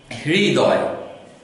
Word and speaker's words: হৃদয়: একটি উচ্চারণ সঠিক নয় আমরা হ এবং র এর অর্ধেক অর্ধেক উচ্চারণ সংমিশ্রণ করে আমাদের উচ্চারণটি করতে হবে এটি খুব কঠিন একটি উচ্চারণ হৃদয় হৃদয় এটিকে যদি আমরা